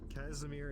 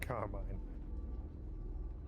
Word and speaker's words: Casimir: I said Casimir in my head, and my mouth said Carmine.